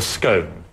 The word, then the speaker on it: scone: Okay, and what is this pronounced? Well, it's called a scone, or if you're really pretentious, you can call it a scone.